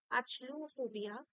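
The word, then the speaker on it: achluophobia: ইউ ও পি এইচ ও বি আই এ আচলুফোবিয়া হচ্ছে ডার্কনেসের ভয় ঠিক আছে অন্ধকারের ভয় ঠিক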